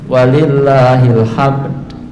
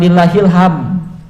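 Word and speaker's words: وَلِلَّهِ الْحَمْد: Wallahu akbar, Allahu akbar, walillahil hamd. Nah, bukan lillahil hamd, tapi ada dal yang disembunyikan bacanya.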